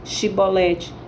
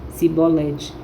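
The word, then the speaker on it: Chibolete: Então dize, pois, Shibolete. Está lá em Juízes capítulo 12, versos 5 a 6. Aí ele já pronunciava Sibolete, pronunciava de forma errada.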